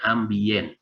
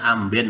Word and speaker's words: ambient: orang sering sebut namanya ambient bukan amben orang Jawa tapi ambient bacanya ambient ya tulisannya mbiyen bukan MB